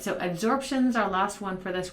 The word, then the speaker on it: adsorption: Now, adsorption is different from absorption. I'm not saying it wrong. It really is adsorption. A sponge absorbs things. Absorb with a B means that it takes it into itself.